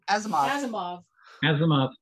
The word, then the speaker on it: Asimov: Before Robin begins, can you give me the correct pronunciation of the author of Foundation, his last name? No. Asimov.